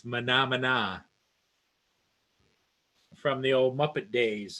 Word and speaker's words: Mahna Mahna: in a manner yeah a lot of people pronounce it as a mana mana but it's not it's Mahna Mahna from the old Muppet days and we can